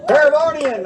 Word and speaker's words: Paravonian: Paravonian, I love, man.